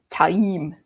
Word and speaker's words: Taim: This is still one that he's always going to be Mazrim Tame. It's Mazrim Tame. It's just Taim.